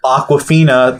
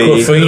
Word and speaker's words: Awkwafina: It's spelled like AWK, like she's awkward. Awkward.